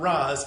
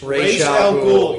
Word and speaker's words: Ra's al Ghul: It's not Raz, it's Ra's al Ghul.